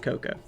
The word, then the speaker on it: Cuckoo: I thought it was cuckoo, but okay. It is spelled cuckoo. It is pronounced Coco.